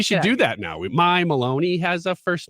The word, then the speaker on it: Maloney: familiar with representative carolyn maloney i wasn't i know her name rhymes with bologna which i like can